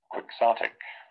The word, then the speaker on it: Quixotic: 발음이 Quixotic. Quixotic. Quixotic. Quixotic. Quixotic. 이렇게 동키호테라고 우리말을 발음하지만 영어로는 Quixotic이라는 말로 발음을 합니다.